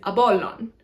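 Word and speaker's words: Ἀπόλλων: Apollo is Apollon, Apollon. It's very difficult for me to say this one because I can't pronounce this letter. If you're an English speaker, it's very hard to do this letter because this letter is an unaspirated P sound.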